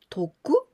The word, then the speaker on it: 特: We pronounce toku or to, and this means special.